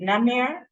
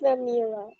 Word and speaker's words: Namira: So is it Namir? It's Namira. Namira, right?